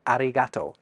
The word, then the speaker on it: arigatō: But did you notice anything about how I said arigatō? It's got that R/L in the middle of it.